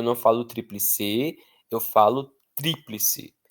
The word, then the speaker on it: tríplice: Então, eu não falo triplice, eu não falo triplice, eu falo tríplice. Eu não falo obito, obitou, eu falo óbito. Não falo exito, não falo exitô, eu falo êxito.